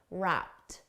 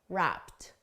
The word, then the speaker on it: wrapped: for pronunciation notice WRA the e d is pronounced as a soft T wrapped wrapped WRA WRA now because